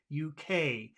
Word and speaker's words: UK: okay but it's not UK okay it's the opposite it's UK because you always put the emphasis on the final letter okay okay okay so UK UK UK what about how would